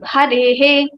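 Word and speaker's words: हरेः: Hare plus Visarga, it will become Harehe.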